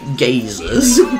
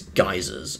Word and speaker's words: geysers: we've died first um the great geysers or the great gazers i used to say that's because how you spell it but no i think it's geysers it's meant to be oh god i felt